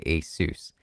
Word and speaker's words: Asus: one and only shame a sus all the way never heard someone say asus okay good good good good asus is how it should be pronounced not having rgb is